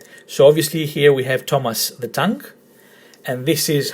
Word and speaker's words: Thomas: And as you can see, because the emphasis on the word Thomas is in the first syllable, we don't say Thomas, we say Thomas, you put the tone as well.